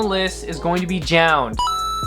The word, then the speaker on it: JJJJound: So the next one, by no surprise, I gotta put on the list, is going to be JJJJound. I almost want to pronounce it JJJJJ.